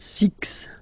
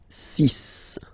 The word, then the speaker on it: six: s okay so it's not six it's sis all right then here